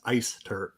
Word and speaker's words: Eyster: But it is spelled more like eyes. So Sure. I get that all of the time. But the pronunciation is Eyster.